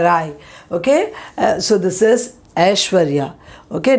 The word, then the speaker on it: Aishwarya: sounds now this one you might say it is aishwarya no it's ashwarya okay ashwarya you would have heard the beauty queen aishwarya rai okay so this is ashwarya okay not i sh